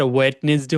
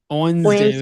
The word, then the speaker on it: Wednesday: তাহলে এখন থেকে আর ওয়েডনেসডে হচ্ছে না, কি হবে? Wednesday, ওয়েনসডে।